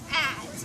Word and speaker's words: adze: it's spelled A-D-C-E, ads, right?